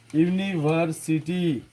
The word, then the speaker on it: university: University means we are pronouncing the word like U. University. But U is a vowel. But when you are pronouncing the word, E is coming out. And a university. University. So that time we are using A. Like a unit. Unit. U. Again. We are using unit. Pronounce the word. That time we can see. That's why we are using A.